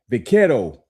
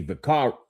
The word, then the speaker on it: vaquero: Even the term vaquero, or in English, you know, we probably would say vaquero, you know, VAQUERO.